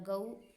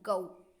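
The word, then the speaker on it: go: First है गऊ, यानी कि ये जब हम इसे बोलते हैं तो हम इसे गो बोलते हैं, बट जो इसका राइट प्रोनाउंसिएशन होता है गऊ।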